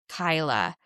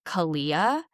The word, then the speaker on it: Kyla: Kyla. The the spelling makes me want to say Kalia. And that's not it.